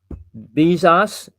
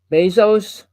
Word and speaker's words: Bezos: It's Bezos.